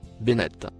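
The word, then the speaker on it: بنات: Le mot en surbrillance gris que vous voyez, se prononce, Bennett.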